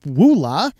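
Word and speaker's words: Ulaa: correct corrected my pronunciation this is pronounced Wula the Privacy browser that wasn't gets over 3000 views the brain chip implants Weekly News Roundup 800.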